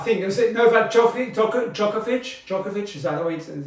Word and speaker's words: Djokovic: We got Roger Federer, Novak Djokovic, Rafael Nadal, all these players are top three tennis players in the world, okay?